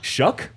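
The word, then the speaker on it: Shough: other guys even like Tyler show is apparently is that how you say it yeah shuck yeah wow did you know that shuck that's a crazy spelling bro's been around for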